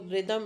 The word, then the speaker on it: rhythm: long E sound right example in the case of rhythm there are no traditional voil. Voil is not used here. But then yx as one voil. So you would count two syllables. So rhythm is a two syllable word.